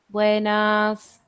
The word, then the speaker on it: Buenas: this one is that you tend to um like pronounce the E and the a a little bit longer so it will sound something like Buenas okay Buenas and that